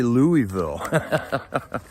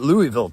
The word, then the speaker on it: Louisville: how do you say Louisville. So I used to say it Louisville till I heard how Jared says it.